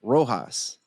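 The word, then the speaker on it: Rojas: And one of the guys that went in the chat couldn't say my name, Rohas. And as you know, rohas is spelled with a J and not an H.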